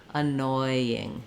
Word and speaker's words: annoying: Noi, annoying. You may have to slow down to make sure that you get that oi vowel in there.